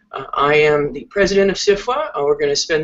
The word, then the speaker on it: SFWA: Fantasy writers of America the second f is silent I am the President of sifa and we're going to